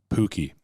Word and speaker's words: Puhky: Puhky.